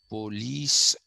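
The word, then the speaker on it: poleis: city-states or not city-states sorry police p-o-l-e-i-s pronounced police that is the uh plural of polis uh all these were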